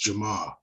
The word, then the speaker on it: Jamaa: from chicago know that there's there's no r in our language and so uh to say to say my name in chicago is just jamaa and so the r is not ever pronounced but yeah you nailed